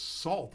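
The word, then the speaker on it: Sault: put the salt uh it's sue when you put sausage marie but it's salt if you just put salt there okay so i didn't know you were going with the the french canadian pronunciation sorry about that um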